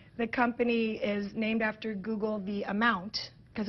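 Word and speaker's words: googol: i'm right i'll prove it to you yes google me do you know what google is named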